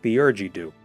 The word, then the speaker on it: Theurgy Dew: I've been told it's pronounced Theurgy-Doo, but Thurgy-Doo.